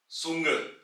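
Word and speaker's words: Zunge: आवाज सेट की है जैसे के सेट से सुंग सुंग यानी के टंग जुबान और यहां पर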